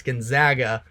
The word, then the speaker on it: Gonzaga: Gonzaga I got um I got some negativity based off of the way that I pronounce their name it's Gonzaga but they should be in